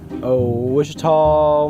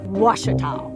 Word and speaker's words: Ouachita: Wichita. Achita. Ouachita. Is it pronounced Ouachita? Searching for Washita Baptist University. Back in Texas, everybody pronounces it Wichita, but really, it's Washita. Washita.